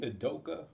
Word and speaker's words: Udoka: Shout out to how do you pronounce his name? Udoka.